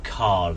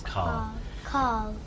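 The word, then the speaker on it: Karl: No, Carl. His name is Carl. Carl. K-A-R-L. Carl. Carl. Yeah. Carl. Carl. Yeah. Carl. It seems like without an R.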